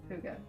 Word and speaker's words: Hygge: Hygge, or first of all, how do you pronounce Hygge or Hygge?